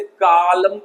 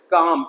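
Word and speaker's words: calm: तो बहुत सारे बच्चों को गलत तरीके से पढ़ाया जाता है और वो इसे कालम पढ़ते हैं, जो कि बिल्कुल गलत है। इट्स काम, एल साइलेंट हो जाएगा शांत।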